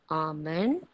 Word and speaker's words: almond: Almond, ALMOND. L is silent.